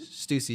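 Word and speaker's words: Stüssy: and is it Stussy? Is that how you pronounce it? Stussy, yeah.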